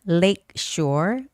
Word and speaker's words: lakeshore: And the words like um lakes shore. Lake shore. Okay. You have to be careful with the sh sound.